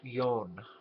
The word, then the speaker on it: John: name of Dr utto yon all right the last name is spelled JN it would be pronounced John in English and in German yon now Dr yon in